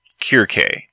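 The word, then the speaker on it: Κίρκη: Her name in Greek sounds more like Kirke. There's that pesky English use of the snake C instead of the Greek and Latin hard C.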